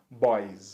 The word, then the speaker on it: boys: S, vai ficar então boys, ok? Boys. E percebam que a terminação na pronúncia é um som de Z. Boys, boys, ok?